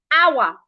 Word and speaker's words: hour: answer we have our the H is silent so do not say how hour say hour hour hour we also